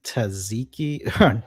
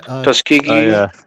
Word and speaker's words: Tuskegee: Uh I'm going to pronounce this wrong, but the Taziki, not Taziki, the Tus Tuski syphilis tri Tuskegee.